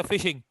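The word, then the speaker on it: phishing: information हां अब देखिए फिशिंग pronounce as अ फिशिंग इज a illegal activities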